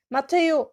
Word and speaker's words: Mathéo: Mathéo, j'ai pas prononcé le H.